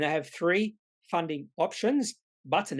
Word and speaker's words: Butn: to look at is button now button is pronounced button i actually had to go and look at